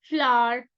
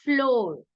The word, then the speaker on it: flour: sugar milk cotton flour now it is not Flor let me help you with the pronunciation as well it's not floor it's FL that that is the reason why it is taken as homophone it is actually a homophone because when we say a flow this FL is also a FL so this is a homophone so FL is the right pronunciation then comes wheat cement